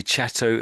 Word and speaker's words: Chatto: So Chatto, I think that's what you said, and your W was a bit V-like. So so I would say Chatto and Windus.